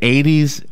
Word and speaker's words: Aedes: of this mosquito, the Aedes aegypti mosquito that spreads the virus. Wow. 80 sounds like the number 80s, but it's A-E-D-E-S.